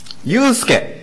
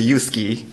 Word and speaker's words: Yusuke: I am Yusuke, not Yusuke. many people pronounce the Yusuke, but I'm Yusuke.